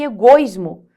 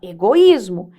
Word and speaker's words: egoísmo: se separam sempre Ó você não fala assim Nossa que egoismo você fala egoísmo Então você percebe que